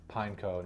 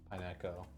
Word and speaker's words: Pineco: you made me realize I've been probably saying that Pokemon's name wrong I have forever I feel like it's probably pineco not pineco robotic steered structure shrouded